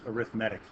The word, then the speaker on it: arithmetic: I couldn't I couldn't not see the word arithmetic but in this context it's pronounced arithmetic I don't know why I don't know I'm